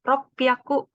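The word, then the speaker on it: 六百: 300 juga beda sambiaku jadi yakunya itu cara bacanya ngelebur gitu jadi ya aku jadi biaku nah ada juga yakunya jadi pihakku gitu rok piaku Happy aku itu 600 + 800 sedikit berbeda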